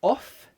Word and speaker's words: off: So off, the OFF, off. And with one F, it's voiced, of. Again, it's that voiced and unvoiced thing. Off, there's no vibration in the throat.